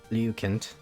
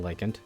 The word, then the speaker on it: Lycant: Singular Lycant, pronounced Lycant. Whatever. I'm saying Lycant.